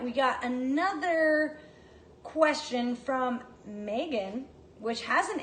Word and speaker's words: Meghan: her mom's decided to go for the silent H it tricks a lot of people and you raise Meghan